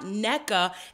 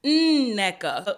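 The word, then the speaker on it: Nneka: And Wendy is like, oh, you're saying her name wrong. It's not NECA. It's NECA. So there's a double N in front of her name. And you have to, you got to sound that out. It's like singing.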